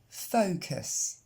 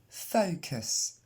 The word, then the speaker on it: focus: Focus. Encore une fois. Focus. Ce US se prononce juste us et l'accent tombe bien sur la première.